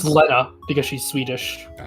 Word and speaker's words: Lena: It's actually pronounced Leta because she's Swedish.